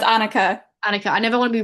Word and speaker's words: Annika: How do I pronounce your name? Is it Annika, It's Anika? Annika.